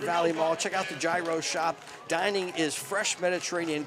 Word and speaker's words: gyro: Eat healthy, eat great food, eat at the Gyro Shop at the food court in the Oxford Valley Mall. Retro Fitness, Shop Right. The Hero Shop. I would call it Gyro, but I think it's pronounced Euro I Shop.